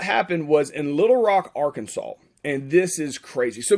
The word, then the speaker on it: Arkansas: this first all right this is a picture in arkansas not our kansas even that's how it's spelled arkansas this is central high